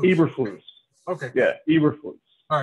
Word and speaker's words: Eberflus: Oh, it's Eberflus. Eberflus.